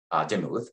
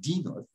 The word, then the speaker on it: Demuth: And I'm using the most common pronunciation of his last name, Demuth. He pronounced it Demuth, and his close friends called him Dean.